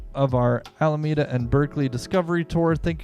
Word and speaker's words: Alameda: Is it Alameda or Alameda? It's Alameda. Alameda. I mean, you got to correct me on my California pronunciation. I mean, the English pronunciation is Alameda. However, if you're approaching it from purely a Spanish accent, it's going to be Alameda.